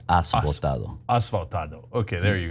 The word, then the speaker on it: Has votado: The H is silent. It's like Has Votado.